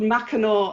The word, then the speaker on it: Mackinac: what island is this it's called mackinaw island that you spell it mackinac um but it wow